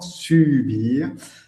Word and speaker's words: subir: Alors que subir, attention à la prononciation, subir, en français, c'est aguantar, soportar.